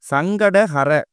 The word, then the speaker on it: சங்கடஹர: நிறைய பேரு இந்த சங்கடகர சதுர்த்திய முழுமையா உச்சரிக்காம சங்கட சதுர்த்தின்னு மொட்டையா சொல்றாங்க. அப்படி சொல்லக்கூடாது. அப்படி சொல்லும்போது நமக்கு சங்கடங்கள் தான் வரும். சங்கடஹர சங்கடங்களை அறுக்கக்கூடிய சதுர்த்தின்னு நம்ம முழுமையா உச்சரிக்கணும். பொதுவா இந்த சங்கடகர சதுர்த்தி அன்னைக்கு